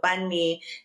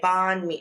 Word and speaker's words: Bun Mee: So Bunme is spelled B A N H M I. And so Americans would say bond me, you know, bond me or like they just they just would say it wrong.